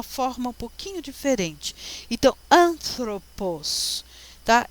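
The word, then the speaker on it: ἄνθρωπος: A, alfa, né? O ni, que é N, parece um V, mas não é, é a letra N de Nair. Esse é um T aspirado, ó, tá?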